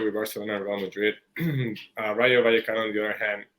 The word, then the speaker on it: Rayo Vallecano: pronounce that? Sorry. Rayo Vallecano.